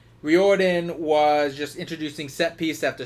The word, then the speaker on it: Riordan: just felt like R Riordan I guess is how you're supposed to say his name Riordan was just introducing setpiece